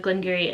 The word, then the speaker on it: Glengarry: But I don't really know too much about the Glengarry, and yes, that's how it's pronounced. I googled it, but also when I worked at a distillery, that is how everyone was pronouncing it.